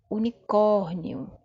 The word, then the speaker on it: unicórnio: Primeira palavra, unicórnio. Unicórnio. Perceba que agora a sílaba tônica está na penúltima posição.